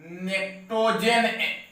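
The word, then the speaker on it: pnictogen: This is a also called नेक्टोजेन। इसे कहा गया है आपका नेक्टोजेन element and compound. P silent है।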